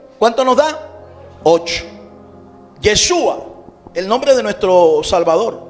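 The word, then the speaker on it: ישוע: El nombre hebreo de nuestro Señor, de nuestro maestro Jesús de Nazaret es Yeshua. Yeshua. Yeshua. Dígalo conmigo. Yeshua. Yeshua. ¿Cómo se escribe?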